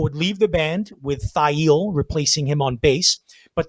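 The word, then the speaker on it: Thayil: and that is how his print name is pronounced thail uh hiro yamamoto and uh bruce pavett moved together from the chicago suburb of park forest to seattle thigh eel would enroll at the university of washington pavitt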